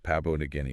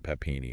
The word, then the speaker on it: Papua New Guinea: It's Papua New Guinea, not Papini or whatever. Sometimes people get it mixed up.